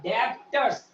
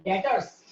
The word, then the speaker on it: debtors: डेप्टर्स। यहाँ B silent है, ये जो बी है ना, ये बी वो साइलेंट है। क्या बोलते हैं? डेटर्स। डेटर्स बोलते हैं, डेटर्स। डेप्टर्स नहीं बोलते, बी साइलेंट है।